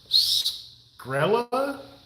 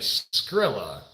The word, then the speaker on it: Skrill: Okay, so there's no A at the end.